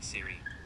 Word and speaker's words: Sirui: siri siri siri siri how do you pronounce siri my name is pronounced siri it rhymes with cheery lakiri and quantum theory not your name dick